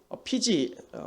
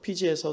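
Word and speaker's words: Fiji: 제가 청년 시절에 남태평양의 피지 정확하게 말하면 F 발음이어서 삐지라고 하는데 피지라고 하는 나라에서 9개월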